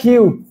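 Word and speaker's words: queue: কিউ, এর উচ্চারণ হচ্ছে কিউ। এটুকুই শুধু উচ্চারণ। এই যে একটা দিয়ে একটা আমাদের কি বলবো, যে লেটারের উচ্চারণ করলে পুরো ওয়ার্ডের উচ্চারণ হয়ে যায়। মানে আরো চারটে এখানে সাইলেন্ট থাকতেছে।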